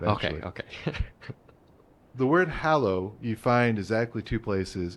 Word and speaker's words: hallow: sure all right well I pronounce it hallo I can't claim that that's the absolute Universal pronunciation of that word but if I say Hollow it implies I'm carving something out from the Middle where or something so